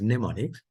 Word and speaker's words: mnemonics: So mnemonics, the M is silent, so you pronounce it as mnemonics.